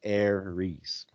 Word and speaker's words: Ares: war the greeks call the planet aries is pronounced heiress the romans and greeks associated a planet with